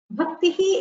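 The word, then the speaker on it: भक्तिः: Bhaktihi is only pronounced. It is pronounced with the Visarga being heard.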